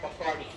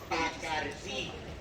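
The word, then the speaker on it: Bacardí: It is not Bacardi. It's Bacardi. That's an accent on the I.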